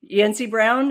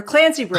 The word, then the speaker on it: Clancy Brown: I always forget how to say his name. Brown. Yansy Brown. Is that it? Or Clancy Brown. Clancy Brown.